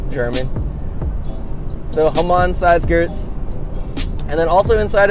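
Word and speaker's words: Hamann: it's pronounced but whatever I'm not going to call it Hammond I don't think it's pronounced Hammond but I think it's come on whole month sounds Jeremy so home on sideskirts and then also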